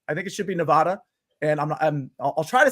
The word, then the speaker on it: Nevada: You say in Reno rooting for Nevada, pronounced like dad, not Dodd. In other words, Nevada, not Nevada.